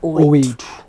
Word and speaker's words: 082: together like 082 and pronouncing it with an O. Okay. So like it spells out Owethu. Okay. But it's just a unique way of saying it.